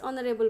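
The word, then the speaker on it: honour: ही इज not days ऑनरेबल मैन ऑनर पूर्व तुम कौन बस ऑनर ONOUR H silent ONOUR H silent तो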